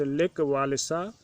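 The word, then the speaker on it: Lech Wałęsa: काम करने वाले, जिसका नाम लेक वालेसा था, प्रोनाउंस लेक वालेसा, जिसको लेक वालेसा भी कहते हैं, ज्वाइन द स्ट्राइकर्स, वह जो हड़तालियों में सम्मिलित हो गया।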